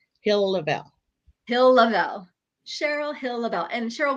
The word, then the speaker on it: Hill-Lavalle: Hill-Lavelle.